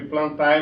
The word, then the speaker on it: plantae: Se escreve plantae, mas a pronúncia é plantae, reino das plantas.